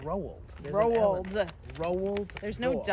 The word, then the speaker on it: Roald: But why do you keep saying road? How do you say it? Roald.